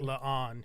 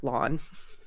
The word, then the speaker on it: La'an: I try. But if I'm talking fast, it just comes out like lawn. You get that sometimes during the show too. Some people will specifically pronounce it La'an, and some people will just be like lawn.